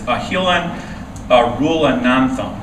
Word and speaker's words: Ahilan Arulanantham: Number 5, his name is very hard to pronounce. It is Ahilan Arulanantham, which I have to write down the pronunciation for.